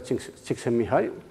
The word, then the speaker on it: Csikszentmihalyi: pronuncia esto me dijo tienes que decir en inglés los pollos me lanzaron alto csikszentmihalyi nunca se me olvidó ya se pronuncia ching six en mi hija yo o este señor que